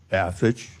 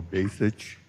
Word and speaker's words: Basich: Okay, my name is Bassich, last name, or Basich. Any way you say it is fine.